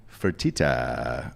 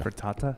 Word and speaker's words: Fertitta: motivation behind wanting to leave is owner Tillman Fertitta, which is always a fun name. it's the best name in all of sports. Am I saying that right? I have Fake no Dan? idea. Fertata?